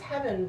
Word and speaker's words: Hevyn: because I thought, oh, I think it's Heaven, but it's spelled Hevyn, and he's passed away.